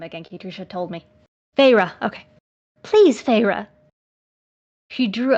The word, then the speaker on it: Feyre: her wide eyes on me and said please fiery oh what was the name again katricia told me feyre okay please feyre she drew out the two